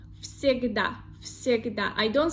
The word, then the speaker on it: всегда: The word всегда.